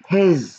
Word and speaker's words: his: his لاحظوا هون ال S هاي بدي اياكم تنتبهوا لها، خليني احطها بغير لون عشان تنتبهوا انه بنكتبها S بس بنلفظها Z. his بنلفظها بهالشكل كأنه هيك تلفظ، خليني حتى بس بشكل انه بهالاسلوب بنلفظها his، تمام؟ his نكتب S بس نلفظ Z.